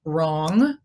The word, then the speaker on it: wrong: In W-R, the W is silent. We have wrong, right, meaning to write, and wrap.